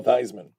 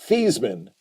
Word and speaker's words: Theismann: desensitized compared to Joe Theismann which is actually pronounced these men uh but because of